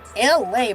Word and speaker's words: Elay: You heard it first here in the figment of my own imagination here on LA. Pronounced like LA, like the city on the front there, but I'm breezy at 10 o'clock a.m.